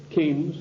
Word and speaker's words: Keynes: they said john maynard keynes or keynes he said Keynes was a better word because arrived with it rhymes with brains and this is a